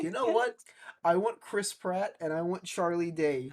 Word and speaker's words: Chris Pratt: I I think we should get Chris Pratt. love the Lego movie. Mhm. I love the... Oh I saw no. one person mispronounce his name as Crisp Rat, and now I can't stop saying it just Oh instinctively.